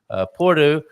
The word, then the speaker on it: Porto: Porto.